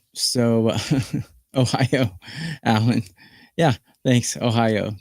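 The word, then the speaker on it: おはよう: Ohio, that's how you say it. Good morning in Japanese.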